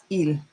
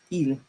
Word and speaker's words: il: It's pronounced il. It's not i. It's just il.